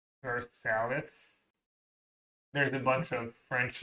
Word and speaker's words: Versailles: There's a city in Ohio named Versailles, and it's pronounced Versailles.